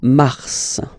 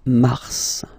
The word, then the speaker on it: mars: So in a way, it's an exception because normally final S is not pronounced in French, okay? We've got some exceptions, and this one is one of them. So mars, pronounce the final S, mars, mars, okay?